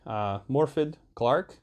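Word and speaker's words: Morfydd Clark: is uh played by i'm gonna try to say this name correctly morphed clark i think that's that's how you say her name she does a wonderful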